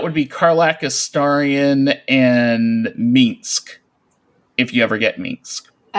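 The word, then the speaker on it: Minsc: Yeah, but, I do have to say though, having Minsk, it's pronounced Minsk by the way.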